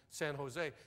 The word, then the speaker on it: San Jose: to el cajon and san jose she said out here we pronounce that j like an h it's el cajon and san jose how long are you